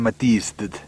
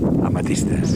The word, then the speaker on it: Amathistes: Bé, ens anem enfilar dalt d'aquesta morrena i per darrere va la glacier de la Sant Matist. Pronunciat bé? No massa, oi? Matist? Amatistes. Amatistes. Aquí tinc la meva profe.